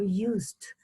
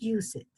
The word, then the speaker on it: used: First, remember, do not pronounce the ED when you say, for example, supposed or used. Remember, you do not pronounce the ED at the end. You go once, used, not use it, okay?